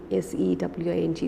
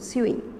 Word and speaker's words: sewing: sewing it is sewing s-e-w-i-n-g stitching is pronounced sewing not suing the poem concerns itself